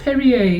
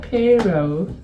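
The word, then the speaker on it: Piero: It's Perrier. It's not Pero.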